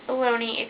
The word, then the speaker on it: bologna: pic what about bologna do you pronounce it bologna or bellogna cause it's bologna spelled blogna it is baloney why did oscar meyer